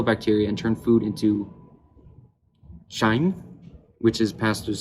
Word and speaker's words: chyme: in digestion, kill bacteria, and turn food into chyme, which is passed through the small intestine. So, how do you say that? Chyme.